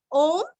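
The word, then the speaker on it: ओम्: ओम ओम का उच्चारण दीर्घ करना है।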